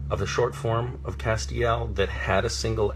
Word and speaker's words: Castiel: in and they will say how do you pronounce your character's name is it Castile and I will say no it is not Castile it's Castiel and that's very important um that on the